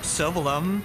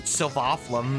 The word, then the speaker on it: Sylvalum: Then again, in Xenoblade Chronicles X, they stopped knowing how to pronounce Sylvalum. Now or never. They pronounce it Sylvaflum in the epilogue inexplicably.